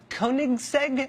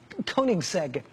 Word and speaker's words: Koenigsegg: the world including some Swedish thing called the Koenigsegg I think that's how you say it koe n IG s e-g Koenigsegg he had one that was one of only